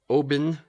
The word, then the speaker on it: Oban: It's Oban is actually the spelling of it, but it's pronounced OH, like emphasis on the O. Bin. Like a bin of trash Oban.